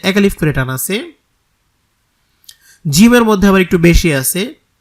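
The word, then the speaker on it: ج: করে নামটা বলা হবে জিম শক্ত উচ্চারণ জিহ্বার মধ্যখান তার বরাবর উপরের তালুর সাথে লাগিয়ে শক্তভাবে জিমটাকে উচ্চারণ করতে হবে জিম জিম জা জি যু শক্তভাবে জা জি যু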